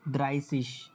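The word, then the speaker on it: dreißig: এই যে এটা হচ্ছে 30 হ্যা যেটা নিয়ে সবাই উচ্চারণ করতে এটা হচ্ছে দ্রাইসিস এ উচ্চারণ হবে দ্রাইসিস আর কালকে তো নাম্বারের ক্লাস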